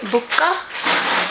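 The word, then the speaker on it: Bocca: This one you pronounce it as buka. B O C C A BA.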